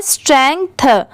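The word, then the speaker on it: strength: मिला देंगे तो स्ट्रेंथ ठीक यहां पर लिखते टाइम जी को तो लिखा गया है बट साउंड जो आ रही है उसमें जी को ऐड नहीं किया गया है मतलब यहां पर जी लेटर साइलेंट है इसे सिर्फ क्या पढ़ा गया है स्ट्रेंथ ठीक है स्ट्रेंथ अगर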